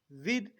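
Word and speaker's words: with: This, विद, कई लोग इसको विथ बोलते हैं, विथ। विथ वॉज a wrong pronunciation of this word, that is विद।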